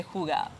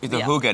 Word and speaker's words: hygge: They are going to tell us a little bit more about the hygge. The hygge.